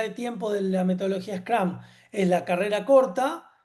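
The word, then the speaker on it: Scrum: La más popular es la que llama Scram. Scram se escribe como está acá. Scrom.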